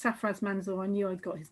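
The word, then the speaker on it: Sarfraz Manzoor: And thank you, Manuela's pointed out that it's Safraz Manzoor. I knew I'd got his name wrong.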